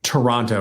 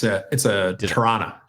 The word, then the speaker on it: Tirana: Well, you did get Toronto wrong. It's Tirana. Tirana.